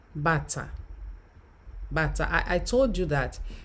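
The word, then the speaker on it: bàtá: Now, you will notice that bata, shoes there, and the other one underneath, that's a kind of drum, is pronounced bata.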